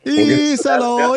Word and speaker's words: Iisalo: Pronunciation of the guy's name here. Yeah, let's hear it. Tuomas Iisalo. Isalo. Ooh. There you go. Isalo.